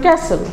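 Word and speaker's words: castle: টিচাররাও বলে common mistake এগুলো ইংলিশে তারপরে ধরেন ক্যাসেল ক্যাসেলকে ক্যাস্টেল বলতেছে এখন কথা হলো যে আপনি প্রেজেন্টেশন দিতে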